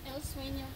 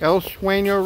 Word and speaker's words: El Seuno: I'm here at, how do you pronounce the name of this again? El Seuno Resort. El Seuno Resort.